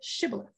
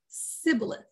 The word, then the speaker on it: shibboleth: a linguistic identity test based on their pronunciation of the Hebrew word shibboleth the identity of the Bible was revealed by the pronunciation of the test word as sibilith they couldn't say it and they were put